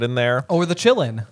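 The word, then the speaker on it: Qilin: Or the Chillin. Or the Chillin. Yeah, which is spelled K Q-I-L-I-N.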